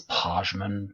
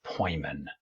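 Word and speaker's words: Pojman: of ethical objectivism uh for a while I was pronouncing this posman but it's poyan so if I ever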